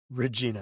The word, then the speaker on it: Regina: Regina Salv well there's a there's a city in in Saskatoon in Canada spelled the same way but it's pronounced Regina.